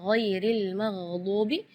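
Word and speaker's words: غير المغضوب: makhraj ee eh eh huruf gain ya giril magubi ya perlu diperhatikan bukan G bukan huruf g ya bukan Ga Tapi G Jadi kalau ga itu dia e makhrajnya dari lidah ya tapi kalau huruf gain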